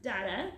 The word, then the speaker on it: Dada: or what's d.a.d poetry it's actually pronounced dada it's a very interesting